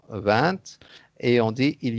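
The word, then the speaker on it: vingt: consonne, alors on ne prononce pas le T à la fin du mot 20 et on dit il y a 20 choses.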